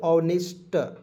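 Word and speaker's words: honest: इसे पढ़ेंगे नेस्ट ने नेस्ट नहीं पढ़ेंगे ऑनेस्ट ठीक है ऑनेस्ट ऑनेस्ट मीस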